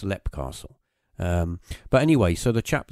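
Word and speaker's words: Leap Castle: But you could write it as Leap, but they pronounce it as, I'm pretty sure they pronounce it as Lep Castle.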